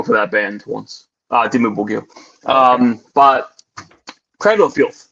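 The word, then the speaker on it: Dimmu: about uh cradle of filth verse is it dim? Am I pronouncing that right? I wanted to end it with a rough one. Yeah, Dimu.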